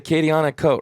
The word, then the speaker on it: Acadianakote: You said Acadianakote, right? Is that how you pronounce it?